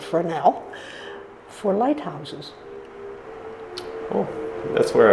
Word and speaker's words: fresnel: it's no longer useful it's called a fresnel and it's spelled the